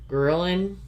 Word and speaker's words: ghrelin: It's spelled Ghrelin. Ghrelin.